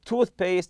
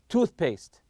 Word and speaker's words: toothpaste: your toothpaste and toothbrush so toothpaste and toothbrush are compound nouns and we stress the part of the tooth you say toothpaste toothpaste or toothbrush lastly here